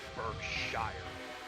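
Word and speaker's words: Berkshire: how correct it is the actual name for the wheel Arrangement is pronounced burshire and I don't know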